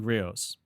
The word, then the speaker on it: griot: their debut album, American Griots, which contains the song that I picked today. When I first read the album name, Griots, I thought that initially they were just pronouncing grits funny.